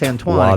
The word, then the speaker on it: Antoine: It's Antoine.